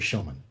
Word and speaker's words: Shomon: Tuesday Foster told me you need to look up Mary SHOMON.